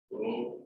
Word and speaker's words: rho: So combining, that is R is proportional to L upon A, or R is equal to rho L upon A.